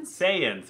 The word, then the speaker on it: Saiyan: obviously all say urgent say how do you pronounce them in English again Saiyan Saiyan right all the Saiyans are technically all more